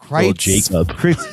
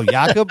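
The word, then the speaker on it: Jakob: it's cfel yakob disease Jacob oh yakob oh it's a soft J I see jacobitz Phil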